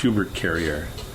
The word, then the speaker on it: Hubert Carrier: My actual real name was a given name from my father, and it's Hubert Carrier. Hubert Carrier. Oh, okay. That's how you kind of pronounce it in French.